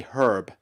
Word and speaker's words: herb: Like I love like getting Americans to say Herb because they don't like H's. It's like Yeah. You just say herb. Herb. Yeah. Yeah. Unless Unless someone is named Herbert, then you say it.